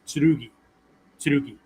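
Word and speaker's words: 剣: sword katsujini uh katsujin Ken or katsunin can in this case Ken is written with the kanji for uh the ultra the alternate pronunciation is tsurugi right so they're not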